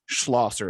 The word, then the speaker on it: Schlosser: My guest, Hunter Schlosser. Is that how you say it? Yep, that's right.